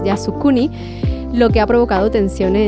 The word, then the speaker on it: Yasukuni: Ha visitado reiteradamente el el santuario Yasunuki, a ver si lo pronuncia bien, Yasukuni, lo que ha provocado